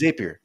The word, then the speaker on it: Zapier: They're saying it wrong. I agree with you. Yeah. It's Zapier. Anyways.